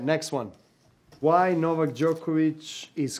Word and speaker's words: Novak Djokovic: is just the beginning how does novak djokovic pronounce his name novak djokovic try it at home how does novak djokovic